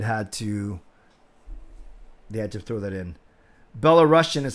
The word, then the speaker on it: Belarusian: Belarusian is how you say it.